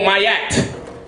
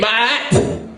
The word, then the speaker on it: ma'at: When you have an ayin conjoined to an aleph, it comes ah. That's how you say it. Ah. So it'd be ma'at, not mayat. Not mayat. That's an English mistake.